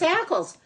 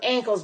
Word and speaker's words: Ackles: I know she calls her ankles, but it's Ackles. I'll pronounce it the way it says, Miss Ackles.